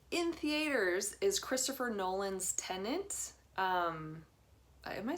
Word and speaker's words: Tenet: Also coming out that weekend in theaters is Christopher Nolan's Tenet. Am I saying it right? Tenet?